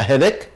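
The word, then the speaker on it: headache: صداع هاف ا هيدك خلي بالكم سي اتش هنا مش هتنطق تش هتنطق ك عادي هاف هيدك عجله التزلج رولر بلايد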